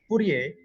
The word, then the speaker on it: Fourier: Karena kan persamaannya Fourier itu bacanya Fourier, bukan Fourier gitu, bukan Fourier gitu.